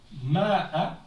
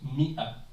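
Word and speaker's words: مائة: écrit Mi'a, c'est que malgré qu'il y a un alif après le mim, on ne le prononce pas ce alif-là. Donc on écrit, c'est comme si ça s'écrit Ma'a, sauf qu'on le prononce Mi'a. Comme s'il n'y avait pas, on annule, on ignore le alif.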